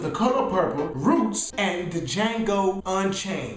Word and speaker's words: Django: color purple roots and Django Unchained the Django is silent this Black History Month